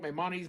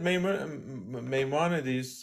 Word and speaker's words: Maimonides: They want to quote Maimonides.